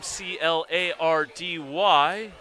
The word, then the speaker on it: Clardy: of two Stanford luminaries with the last name c l a r d y Chloe of Stanford women's basketball pronounces it Clardy you two might have to